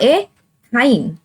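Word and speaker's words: ethyne: अब इसके बीच में क्या है ट्रिपल बॉन्ड है, तो इसका नाम हुआ एथाइन। समझ में आ गया आपको, यानी सिंगल बॉन्ड में एन की प्रोनाउंसिएशन आ रही है, डबल बॉन्ड में इन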